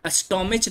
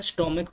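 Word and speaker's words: stomach: एस देकर बनाते हैं स्टमच नहीं होता स्टमक होता है इसलिए एस देकर प्लूरल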